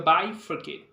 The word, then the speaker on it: bifurcate: it sounds like B it's like B but it's actually pronounced like by okay so you have to understand that this is not the B this is the by so by foret okay we know that